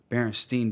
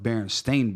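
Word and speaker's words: Berenstain: but here's the thing I remember it being spelled s t i n Baron Steen Bears yeah but if you look at it now it's spelled Baron stain Bears a I you know what I'm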